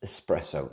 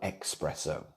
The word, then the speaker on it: espresso: Firstly, it's espresso, E-S, it's espresso, not espresso. Have you ever had anyone who does that? Oh, I love my espressos. Like, well, if you love them, you'd say it properly.